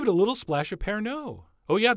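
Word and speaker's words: Pernod: a little splash of parano oh yeah the D is silent in fact the O is almost silent and if you haven't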